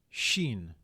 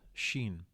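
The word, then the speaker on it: شين: Shen so uh the the letter is pronounced sh so the example word that we will use used then is a very a word very similar to the word which is she okay so it's just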